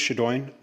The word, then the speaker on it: Shadowen: Next, um, Shaduan. Good evening. My name's Shadine. Great attempt at pronouncing a very difficult last name.